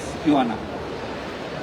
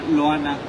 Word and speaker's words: Joana: pero sí, la pronunciación es Joana. De hecho, perdón que te interrumpa, había un lector que le decía Loana, que de hecho es aquí presente, lo estoy viendo en este momento.